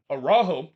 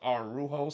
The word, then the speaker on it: Araujo: in the 9th minute, Araujo had a header that was clear off the line. The commentator keep pronouncing his name Araujo and not Arujo, so I'm gonna pronounce it Araujo in this one.